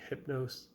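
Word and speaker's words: Hypno5e: And now my number one album of February is by the band Hypnos, which is spelt Hypno 5, the number 5E. So they replaced the S in their name with the 5 for some reason, probably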